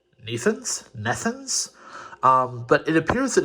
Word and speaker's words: Nethuns: He told me that it is apparently they're French, and it is Nethuns.